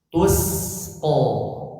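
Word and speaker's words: تسقى: Lihat aja kalau masih bacanya tus keliru. Karena itu huruf shad nanti tertukar dengan huruf shad. Tapi sin tipis tusqo.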